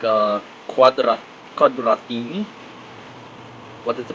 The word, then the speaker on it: Quadratini: It's called It's called like uh cuadra quadratini. What is the pronounce of quadra? It was quadratini.